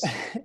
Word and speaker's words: Sifandos: Yeah, my guest today is Stefanos Sifandos. Did I pronounce that right? Yeah, not too bad. Pretty close. Sifandos?